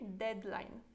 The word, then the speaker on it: deadline: pronuncia em polonês Ok deadline então Dead Olha que a pronúncia também é mais próxima do inglês do que do que